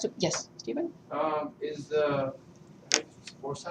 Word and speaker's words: foci: Is the foci?